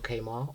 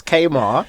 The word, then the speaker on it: Kemar: So, it's not It's Kmart. Yeah. People say Kamar, people say Kmart.